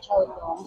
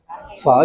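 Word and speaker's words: phở: It's not chowlong. No, not chowlong. Pho, yung malambot lang yung malambot yung pagbigkas na pho. Open mouth and then soft na pho.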